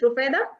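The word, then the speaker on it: Rufayda: नहीं कर पा रही हूँ प्रॉपर तरीके से pronunciate. Sorry, No, no, that's fine. It's okay. It's okay. Nobody can. It's Rufeda.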